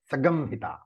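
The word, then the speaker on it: संहिता: So when Samhita is chanted in Veda, it has to be pronounced Sagamhita. If you're wondering what the Sagamhita is, it is Samhita. And the Ma is, as I said, because of the Vedic rule, it becomes Gum.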